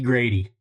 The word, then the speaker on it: Grady: That is Sheriff Shady Grady. Shady Grady Judd. Sorry, I have a hard time saying his name without calling him Shady. I just remember that it rhymes with Shady.